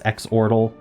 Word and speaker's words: Xordle: those who haven't played uh zordal before also known as xordal both pronunciations are acceptable uh the goal of